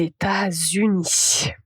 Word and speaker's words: États-Unis: C'est en fait la liaison. La liaison est invisible mais indispensable. Donc ici, tout d'abord quand vous dites les États-Unis à retenir que vous allez avoir deux aides.